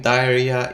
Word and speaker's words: diarrhea: eat spicy food and then remember that having diarrhea is a much bigger problem than not knowing how to pronounce diaria diarrhea diarrhea mama mia mama mia